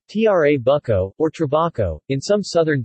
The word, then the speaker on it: Trabucco: the Trabuco Italian pronunciation tra bucco or turbaco in some southern dialects called traffic